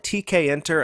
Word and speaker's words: Tkinter: to pronounce this framework is it tkinter I call it tkin and I think that's pretty much the standard way to refer to this toolkit and it makes sense